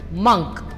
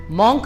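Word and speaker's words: monk: Next word जो है उसका जो सही प्रोनाउंसिएशन है वो है मंक। मॉन्क नहीं, मंक। तो यहाँ पे जो ओ है एम के बाद में इट is also producing a sound, so इट is pronounced as मंक।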